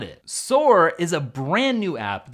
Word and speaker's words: Soor: Soor is a brand new app that I think so many of you are gonna love.